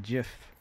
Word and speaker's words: GIF: want that um JF I pronounce it gif that's the uh that's what the dude who made the thing calls it so I'mma keep it